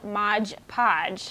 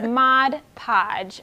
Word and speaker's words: Mod Podge: title modern decoupage so a common misconception is that people think that it's called modge podge which makes sense because it rolls off the tongue because it rhymes yes absolutely but you're saying it wrong it is mod podge for modern decoupage so that is a